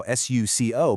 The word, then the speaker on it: suco: And finally, an o at the end of a word, at least in many dialects, often softens into an oo sound as well. And that's exactly how s u c o maps perfectly to suco.